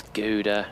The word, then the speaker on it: Gouda: Rodrigo says it's pronounced Gouda because it's Dutch. Like it's Gouda.